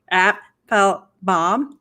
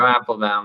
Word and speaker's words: Apfelbaum: You're saying it right, Joe Apfelbaum. That's right. He gave me a 101 tutorial on how to say his last name is 3 syllables.